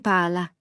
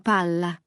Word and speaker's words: palla: Ne dites pas pala, mais palla (jouer). Ne dites pas fato, mais fatto (le verbe faire). Cela change le sens ! Pala est un outil, palla sert à jouer.